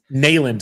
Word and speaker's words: Neyland: 10-2 smacked Tennessee in Neyland Stadium, and it's pronounced Neyland, sir. Neyland.